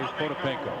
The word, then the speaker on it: Potapenko: You and I are going to say Potapenko.